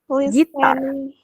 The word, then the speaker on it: listening: swimming, singing, playing guitar, listening, playing guitar, Gitar, not guitar, but gitar. playing guitar, listening to music, Listen. T-nya hilang. Listening to music.